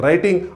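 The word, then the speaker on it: writing: उसके बाद करना है राइटिंग और उसके बाद करना है रिपीटेशन। आप जब इसका प्रोनाउंसिएशन करोगे 3R का, तब जो राइटिंग वाला है तो वो W आएगा, उसको छोड़ दो।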